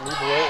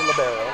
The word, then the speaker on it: libero: correctly pronounced libero or libero.